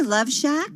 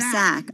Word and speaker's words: Lovesac: Did you say Love Shack, or did you say Love Sack? Oh, okay. Sack. It's spelled S-A-C and serves as the brand name for beanbag-style chairs.